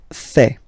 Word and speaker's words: fais: So le verbe faire, je fais. Je fais. Remember, final S not pronounced. Je fais.